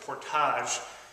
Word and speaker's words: portage: Of course, they're French, they pronounced it portage.